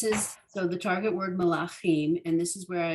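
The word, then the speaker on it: מלכים: And in Hebrew, the traditional syllable emphasis is in this case, in this word, it'd be melachim. So it's often the second or third syllable of a word. It's very rarely the beginning of the word.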